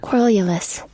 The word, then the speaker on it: querulous: I want to see what the pronunciation it says here. Querulous.